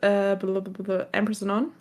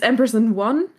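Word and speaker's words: AMPERS&ONE: Like the same with Ampersand On. Ampersand On, yeah. Yeah, it's Ampersand 1, but we always say Ampersand On.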